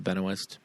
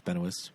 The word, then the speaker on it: Benoist: Uh, I know there's a way to pronounce it, but Melissa Benoist, I don't think it's Benis.